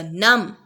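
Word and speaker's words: numb: नम, B silent.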